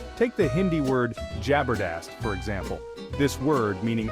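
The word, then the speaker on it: जबरदस्त: Evolutions lead to some interesting and often incorrect pronunciations take the Hindi word jabardast for example this word meaning awesome or fantastic is often mispronounced as jobber jast it's a common mistake but it highlights how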